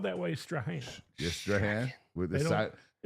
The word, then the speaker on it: Strahan: the day was spelled the same but pronounced Straan.